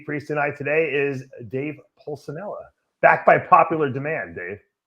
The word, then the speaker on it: Pulcinella: say that might be the first time you've ever pronounced my last name correctly oh really and i'm italian what do i normally say always say pusanella oh that's my that's